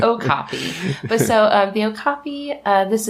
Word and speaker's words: okapi: Which I also had to look up how this is pronounced because my entire life I've been calling them Okapi. Likewise. I've been saying it wrong, and so have you. Well. It's Okapi.